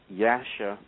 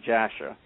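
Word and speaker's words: Jasher: And uh there's some other literature like first Enoch, Book of Jubilees, Yasha, which is spelled actually with a J and most people pronounce it as Jasha that uh tell this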